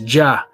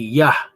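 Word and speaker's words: Jah: heavens by his name here it says ja but we know that there's no j in the hebrew so that would be yah it says and rejoice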